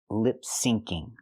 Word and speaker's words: lip syncing: She means to say lip syncing. There's no such thing as lip singing. The phrase is lip syncing with the k sound. Sync. It's short for synchronize.